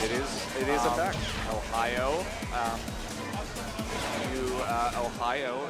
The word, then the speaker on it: Ohio: Ohio is pronounced the same way as the Japanese word Ohio, which means hello.